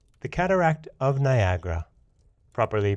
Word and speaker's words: Niagara: either especially judging from the opening line to Niagara the cataract of Niagara properly pronounced Nia Gaara or Anya Gaara is as fatal as it